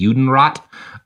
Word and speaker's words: Judenrat: There's an organization called the Judenrat, which is, rat is like it's spelled rat, like the animal, but it's like a governing council, right?